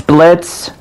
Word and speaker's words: Blitzø: of you what is your name name it's Blitz it's the is silent ah blit with a silent oh that